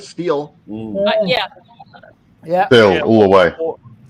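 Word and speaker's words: Stihl: I would love to have $1 for every time somebody pronounces it still instead of steel. Yeah. Still, all the way. Or still. I know. Mr. Every single employee of Steel pronounces it steel.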